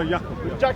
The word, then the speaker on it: Yakub: Now, both Steve, yeah, and also Yakub, so far mispronounced. No, Yakub.